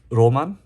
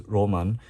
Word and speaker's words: 儚夢: this one is I mean it says here pronounce Roman but I searched up online it could mean fleeting dream I guess H but here it says Roman uh this is the the pink Edition apparently